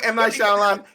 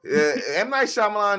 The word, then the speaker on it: Shyamalan: never heard of car no if you're saying M9 Shan you're saying Avatar and the horrible way they pronounced Ang as Ang like no M9 Shyamalan is responsible for two movies on this list